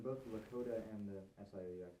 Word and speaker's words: Sioux: In both the Lakota and the SIOUX, how do you pronounce that, by the way?